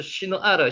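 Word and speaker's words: שנער: 이에 그들이 동방으로 옮기다가 신할 평지를 만나 극이 급유하며 신할 평지 비크아 베에르츠 시누아르 시나를 건 발음대로 하면 시누아르라고 발음이 됩니다.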